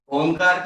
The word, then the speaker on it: ओंकार: ओंकार करते समय अ, उ और म, तीनों का उच्चार, तीनों को प्रोनाउंसिएशन क्लियर होना चाहिए। जब आप अ का उच्चार